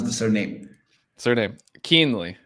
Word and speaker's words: Kuehnle: pronounce the surname surname keenly it's a lot easier than it looks keenly yeah nice nice I